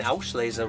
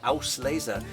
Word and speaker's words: Auslese: um and i think i've been pronouncing auschleiza wrong i noticed you do aus laiza i thought with the s with the l b auschlesser aus lays a more pure pronunciation is that because of the it's a two-part word um if you make the sound you do it would have to be an sch it's just an s house laser correct beautiful